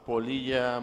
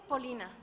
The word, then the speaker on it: Polina: Muy buenos días, ciudadana Nava Polilla María del Carmen. ¿Está bien pronunciado Polilla? No, de hecho es Polina.